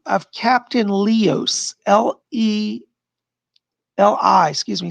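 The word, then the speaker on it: Lios: the name of captain leos l-e-l-i excuse me spells it l-i-o-s lee but he pronounced it leos captain leos is one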